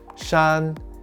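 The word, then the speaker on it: 衫: pronunciation of the whole character this character is pronounced shan and means unlined upper garment to remember this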